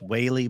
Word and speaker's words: Wylie: That one and another one over Lake Wylie area. It's another hours in an hour. Pronounced Whaley, but that's all right.